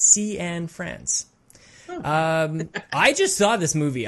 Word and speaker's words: Cianfrance: to say his name he says it's sea and friends i just saw this